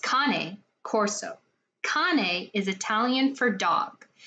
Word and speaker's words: Cane Corso: It is pronounced Cane Corso.